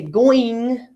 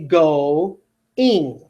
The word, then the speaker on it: going: I don't say going, going. I say go-ing.